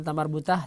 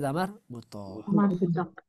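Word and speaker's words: تاء مربوطة: Bukan tamar butah tapi tamar butoh.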